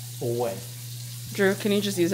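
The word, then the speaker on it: Ouai: really really like this I would normally spell way w a y but this is spelled o u a i away Drew can you just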